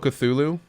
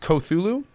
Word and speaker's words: Cthulhu: risk losing his license I believe it's pronounced Cthulhu yeah I'm pretty sure it sounds right Cthulhu yeah oh here we